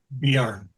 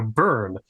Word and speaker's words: Bjorn: Bjorn. Bjorn, thank you. Yeah, I keep hearing it, and I go Burn. That's not, or Brune, and that's also wrong. It's Bjorn.